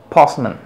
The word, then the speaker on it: postman: postman o sería postman esta palabra se pronuncia postman pasman cuando aparece una sha siempre aquí tenemos la sha la otra vocal va a ser la estresada en este caso la vocal o que representa la sílaba post postman debes de